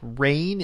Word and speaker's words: Rayne: Like Rayne, it is spelled Rayne, but yes, I think of rain.